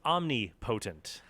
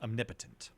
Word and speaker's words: omnipotent: He is, as you would incorrectly pronounce it for many, he is omnipotent. God is all-powerful. He can do anything that can be done. Usually pronounced omnipotent.